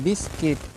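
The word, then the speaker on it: biscuit: एस सी आई टी बिस्किट ठीक है आप हमेशा याद रखें कि अगर यू के बाद कहीं भी कोई भी स्वर आ रहा है तो आप यू का प्रोनाउंस बिल्कुल नहीं करेंगे ठीक है यह आप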